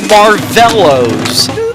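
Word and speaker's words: Marvelows: One of those group names that was so mispronounced by so many disc jockeys, but here's the correct pronunciation. These are the Marvellos.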